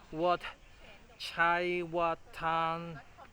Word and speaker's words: Wat Chaiwatthanaram: And yeah, we are here at another Ayutthaya Kingdom, Wat Chaiwatthanaram. Sorry, I need to do it again. Okay, let me confirm the pronunciation. It's called Wat Chaiwatthanaram.